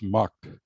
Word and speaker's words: MUTCD: one big sound effect m-u-t-c-d you often pronounce mucked and what is it